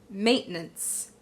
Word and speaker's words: maintenance: So we do not just say may, we say mate, mate. You immediately go into that stop. Mate, mate. So mate, mate is the first syllable. The second syllable is relatively easy, okay? We start out with the n, go into the shwa sound, n, n, n. Another n sound, and then the s, nunts, nunts. So when we combine those 2 syllables, we get maintenance, maintenance.